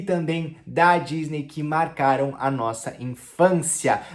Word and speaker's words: Disney: Disney, e não Disney, ok? Então o D tem som de D mesmo, D, e o finalzinho é um som de I, então é Disney.